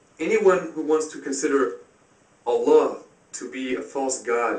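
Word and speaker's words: الله: It can also be pronounced Allah. The Arabic word is Allah. The difference is mainly the elongation of the L, Allah, as opposed to Allah.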